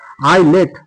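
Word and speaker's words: islet: এরপরে দেখো আই এস এটি। তাহলে দেখ আইলেট আইলেট এখানেও কিন্তু এস এর সাউন্ড আমরা পেলাম না।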